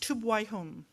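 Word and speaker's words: ܛܘܒܝܗܘܢ: But the Aramaic word for the blessing in the text that we have is, it's pronounced tubwaihum.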